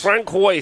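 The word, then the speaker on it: François: Francois, there he is. You can see him. That's how it's pronounced in Canada.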